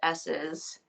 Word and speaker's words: Esses: It is pronounced S's, um, as in the letter S.